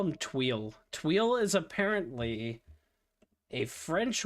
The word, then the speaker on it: tuile: But, yes, it's Tweel. Like, Tweel. But you don't say le.